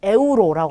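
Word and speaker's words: euro: 그럼 첫 번째 글자는 에우로라고 합니다. 에우로. 우리 스페인이란 나라의 화폐 단위가 유로죠. 네, 그 유로를 스페인어로 읽을 때는 에우로라고 읽으시면 돼요.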